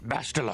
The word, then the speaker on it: Bastila: It's pronounced Bastila.